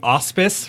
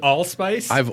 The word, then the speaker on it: allspice: on all spin out everything auspice for the longest time and I was like under what auspices allspice yeah it's not a British thing because Brits like to compress the last syllable of their words they do like Sinjin